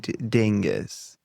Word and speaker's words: Dyngus: Dyngus.